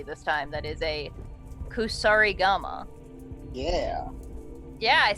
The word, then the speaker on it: Kusarigama: That is a Kusarigama.